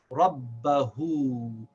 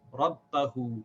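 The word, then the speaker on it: ربه: very small well after this is also pronounced Rob bahu the first one is pronounced but Rob who the second one is also pronounced Rob bahu same word same meaning same pronunciation it will just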